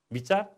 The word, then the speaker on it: विचार: बी, विचार। यो बी उच्चारण गर्दा ब भए पनि लेख्दा चाहिँ ब हुँदैन, व हुन्छ, विचार।